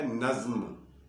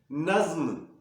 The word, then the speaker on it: نظم: یہ لفظ بنتا ہے، اس کا تلفظ بنتا ہے نظم، نظم نہیں، نظم۔ یہ چاروں الفاظ تھے